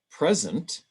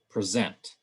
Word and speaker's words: present: different stress patterns so we have permit and permit present and present and same thing with conflict and conflict in english generally when